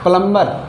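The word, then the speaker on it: plumber: जाता है इसको लेकिन यह सही में इसका उच्चारण क्या होता है संध्या करना नंबर नंबर यानी संख्या प्लंबर प्लंबर प्लंबर यानी नल ठीक करने वाला यह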